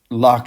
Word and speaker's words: Locke: begin with what's simple Locke is his name that's how you say it has a silent E on the end it's like the common word Locke you lock your car and open the lock with a key but if you're spelling